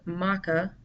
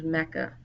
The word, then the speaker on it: Mecca: one of two ways it can be pronounced Maka which was the original spelling and pronunciation or many Muslims and everyone today refers to it as Mecca so either one is